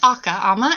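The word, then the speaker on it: Akha Ama: Tell me about this man named Lee and the, if I'm saying it right, the Aka Ama coffee. Yeah, it's actually Aka Ama.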